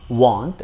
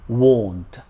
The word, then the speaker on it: won't: of will is won't be sure about this pronunciation it's not want it's won't i won't go to